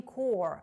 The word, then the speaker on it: Corps: The Marine Corps або The Marines – це корпус морської піхоти. Зверніть увагу на вимову слова корпус – Corps. Вимовляється без літер P та S.